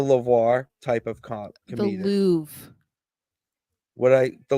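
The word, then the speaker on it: Louvre: a v yes but you don't pronounce the r e yeah the L the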